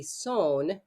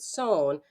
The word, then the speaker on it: son: nasal vowels is that the N is not pronounced. You might see something that looks like O-N. S-O-N would be son or sun in English, but son. But we don't say the N part. It's son. And the N doesn't happen.